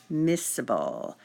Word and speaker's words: miscible: There's a special vocabulary word when you're referring to two or more liquids that are soluble, and that is miscible. That C is silent.